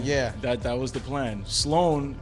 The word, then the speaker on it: Sloan: Sloan, SLOAN, is how you say it and how Okay. you spell it. You say, you say Sloan.